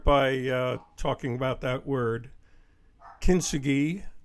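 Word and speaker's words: 金継ぎ: Kintsugi, or another pronunciation you may have heard is Kintsugi, is a Japanese term,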